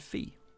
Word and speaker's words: Fi: First, she created Fi, or Fi if you want to say it wrong.